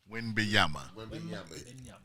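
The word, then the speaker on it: Wembanyama: how you say his name Victor win benyama wimbiyama good job big mom named it yeah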